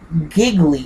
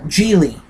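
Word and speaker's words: Gigli: hope I am uh giggly jiggly odd jiggly I think is the the correct pronunciation uh Julie Julie is the correct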